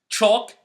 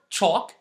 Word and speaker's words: chalk: rule we can say don't pronounce the L when it's preceded meaning it comes after a or o and it's and after